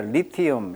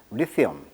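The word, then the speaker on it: lithium: 근데 영어식 발음은 이제 리티엄 이렇게 발음하네요. 리티엄. 자, 리티엄. 자, 리티엄. 발음을 좀 조심하시고요. 영어식 발음은 리튬은 한국식 발음, 영어식 발음은 강세가 이음절이 있습니다. 그래서 리티엄 이렇게 발음하고 있습니다.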